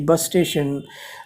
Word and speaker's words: busstation: That, and most of the European languages pronounce U as U only. I worked in Netherlands, and in Netherlands Dutch language they call the bus station busstation.